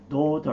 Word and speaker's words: daughter: なので、 daughter というふうに発音します。